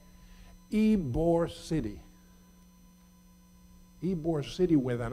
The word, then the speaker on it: Ybor: you bought far water get my name changed put a why so that the Americans can pronounce Ybor so mr.